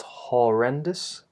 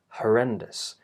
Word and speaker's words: horrendous: It's not horrendous, but horrendous, which is the schwa vowel. Yet again, that unstressed vowel with relaxed lips, and the vowel is short. Horrendous. As you can hear, the stress is on the second syllable. So the unstressed syllables here, are not stressed. Also the us at the end, not dous, but dus. Horrendous.